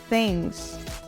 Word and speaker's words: things: Nós falamos things. Things. Uma atenção nessa palavra porque o som da última letra da letra S, na verdade, vai ser o som da letra Z. Things.